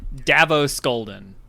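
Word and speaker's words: Davo Sculdun: Of course, it's Davos Scoldon. Davos Scodon. How am I saying it right? Davos Scolden. Not Not Davos. Not Game of Thrones.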